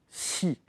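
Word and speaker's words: 呬: Pour vous aider à la prononciation, c'est entre le SHI et le XI pour prononcer le son si.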